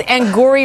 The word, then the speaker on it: Angourie: You said it that because you didn't know how to pronounce her name. I don't. It's Angourie Rice.